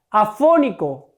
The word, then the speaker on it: afónico: Afónico, ¿cuál es la sílaba tónica? Fo, afónico. ¿Qué sílaba es? La antepenúltima, como teléfono.